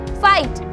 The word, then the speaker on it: fight: ऐसे ही अगर मैं आपको बोलती हूँ फाइट, ठीक है, तो यहाँ पे FIGHT है, GH हमारा बीच में आया तो वो साइलेंट हो जाएगा और हम पढ़ेंगे उसे फाइट।